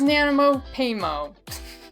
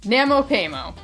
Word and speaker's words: NaMoPaiMo: yeah they did well that was Nano payo you you would think I've learned to say it correctly by now Namo payo and that's all I